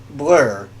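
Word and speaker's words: Bluir: It looks like blur, but it's blah. Blah, blah.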